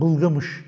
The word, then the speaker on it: Gılgamış: Burada tabii bulun ki gılgamış'a denk düşüyor fanda enki duya denk düşüyor ama olaylar olay örgüsü birbirine çok benziyor Tabii bulutia adı Büyük ihtimalle gılgamış'ın başka telaffuzu olan bılgamış kelimesinin bir şekilde arapçalaşmış hali Yani